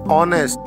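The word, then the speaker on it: honest: अगला उदाहरण है ऑनेस्ट. इसकी स्पेलिंग होगी एच ओ एन ई एस टी, लेकिन यहाँ शुरुआत में ना हॉनेस्ट होगा ना ऊनेस्ट होगा, यहाँ पे शुरुआती शब्द होगा ए W plus N ई एस टी, ऑनेस्ट.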